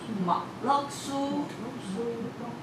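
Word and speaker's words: 無患子: 来，无患子的客家话要怎么念？我放在这里的叫做毛落苏。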